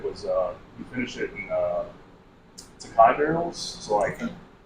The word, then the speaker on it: Tokaji: So, but it's actually pronounced Sakai, and it's like a.